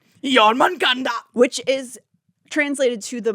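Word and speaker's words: Jörmungandr: Because the Viper Queen is thought to be a reference to Jormungandr. Say it right, Natalie. This is my past. Jormungandr.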